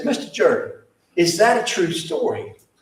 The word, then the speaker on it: Jordan: Many of you know about Clarence Jordan, and in Georgia, they pronounce it Jordan. They do not pronounce it Jordan.